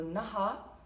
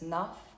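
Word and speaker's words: नः: Swaha, Tahat, Savitur, Varenyam, Bhargo, Deva Sya Dhimahi, Dhiyo, Yo Naha, or you might hear it as Naf, sometimes if it runs into the next word, Pracho Dayat.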